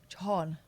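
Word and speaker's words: Jhon: Spell it. J-H-O-N. Oh, it's an unusual spelling. Yeah, I know. Jahan.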